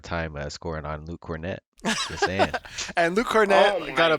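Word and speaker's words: Kornet: props to uh luke cornett fun uh it's spelled pretty cool too it's it's like hornet but instead of an h it's a k i spelled it wrong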